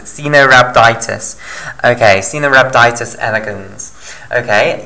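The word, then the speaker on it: Caenorhabditis: no skin cena rhabditis i think it's that's how you pronounce it xenorabiditis okay cena rhabditis elegans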